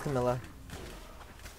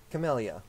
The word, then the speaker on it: camellia: come on oh there's Camilla Camellia there we go I keep pronouncing camillas and they're camellias only the finest dirt